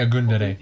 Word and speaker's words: Ogundere: You can't pronounce his name right either. So. Isaac Ogundere. I used to say Ogundere, to be fair.